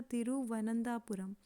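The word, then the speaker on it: തിരുവനന്തപുരം: capital है त्रिवन नथापुर सबसे पहले इसको प्रोनंसिएशन सही रखिए इसका तिरुवनंतपुरम बहुत लोग इसे गलत बोलते हैं एंड इसकी स्पेलिंग भी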